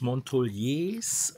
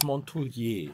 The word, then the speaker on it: Montouliers: Aus Montouliers oder aus Montoulier? Aus Montoulier, das ist Französisch. Wir sind hier in Südfrankreich und da spricht man das S am Ende nicht aus.